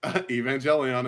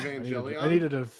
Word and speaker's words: Evangelion: Evangelion appears, which means it was David.